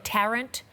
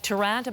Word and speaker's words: Tarrant: wasn't sure we haven't heard this fellow's name pronounced so in australian media they're calling him brenton tarrant terence thank you very much it looked like durant but i will correct myself going forward now